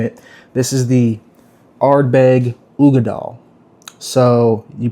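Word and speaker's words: Uigeadail: This is the arbeg ugad doll. So you pronounce that word there, ugad doll.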